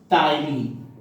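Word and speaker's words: ptyalin: एंड इसी enzyme का दूसरा नाम है आपका टाइलीन। पी साइलेंट रहेगा, टाइलीन, ठीक है।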